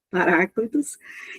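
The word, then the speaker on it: παράκλητος: tradução do grego Paracletos, eu vou pronunciar assim, tá, irmãos? Paráclitos, que significa aquele que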